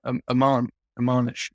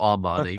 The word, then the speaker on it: Omani: Yeah, Omanish cooking. I don't know how you say it. Omani. Not Armani, but you know.